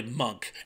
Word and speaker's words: Munch: old friend all a monk and yes I was right they do pronounce it with that hard C Sound not the Munch although people love to say Munch for some reason but